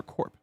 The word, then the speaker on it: corp: But then do we pronounce the P for corp? Corp? Yeah. Yeah, Okay. we definitely do.